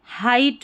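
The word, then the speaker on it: height: ई आई का हाइट में हाइट में इ आई का आई वाला उच्चारण है। आई क्योंकि देखिए यह जो जी एच है यह साइलेंट है तो इ आई का आई उच्चारण है।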